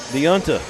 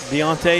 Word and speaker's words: Deontay: And we've also got Deonta. Deontay is how you say it.